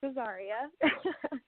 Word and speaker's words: Azaria: It's Azaria.